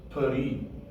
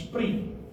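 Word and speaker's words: פרי: So that when we say the word, we will say it as Peri, so that you hear the S sound. Its actual pronunciation is Pri. Pri. You hardly even hear the S sound, because that is your vowel Shava, which is this half vowel sound.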